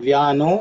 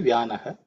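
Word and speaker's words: व्यानः: Usually you would say Vyano Yajnena Kalpatam, but Vyano is actually Vyanaha. Vyanaha becomes Vyano because of Sandhi.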